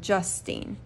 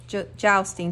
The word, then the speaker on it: jousting: the right spot, just at the right second, pronouncing justine, jousting.